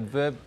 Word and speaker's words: Veuve: They like to say that Veuve rhymes with love.